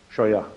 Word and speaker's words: Scheuer: Dr Scheuer, est-ce que je prononce bien votre nom? Scheuer.